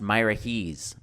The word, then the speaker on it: Miraheze: farm that I was surprised to learn is pronounced Myra Hees I run my own